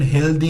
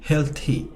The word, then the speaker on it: healthy: এটার উচ্চারণ হেলদি নয়, হেলথি।